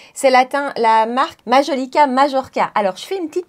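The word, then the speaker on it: Majolica Majorca: groupe Shiseido et donc ça se prononce majolica majorka c'est pas comme à l'espagnol le J ne se prononce se prononce comme comme en français et donc merci à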